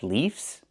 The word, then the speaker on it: leaves: We use the letter V and pronounce it VV plus the S making it Z sound like in zebra.